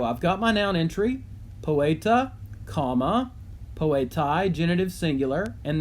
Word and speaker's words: poeta: Well, I can do poeta, just to be a little bit of a show off here. Poeta, notice it has a long E in it, so I'm using my, my button to do that.